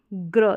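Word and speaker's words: grey: ध्यान रख सकते हैं नोट कर सकते हैं कि जी आर को ग्र पढ़ा जाता है और ई वाई को ए पढ़ा जाएगा लास्ट में आ रहा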